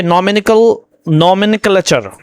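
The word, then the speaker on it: nomenclature: यहाँ पे है, अच्छा ये नॉमिनिकलेचर, देखिए यहाँ पे नॉमिनकलेचर, तो ये प्रोनाउंसिएशन है इसका, यानी नामकरण प्रणाली, जिसमें आपने नेमिंग भी होता है, टर्मिनोलॉजी होता है, क्लासिफिकेशन होता है।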